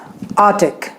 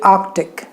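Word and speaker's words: Arctic: For example आर्टिक, कितने लोग आर्टिक कहते हैं? गलत है, it should be आर्कटिक, आर्कटिक।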